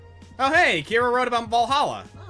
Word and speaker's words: Va11 Hall-A: Oh, hey, Kira wrote about Valhalla. Oh, name sounds a bit silly and a bit hard to pronounce. Good thing it's actually just called Valhalla.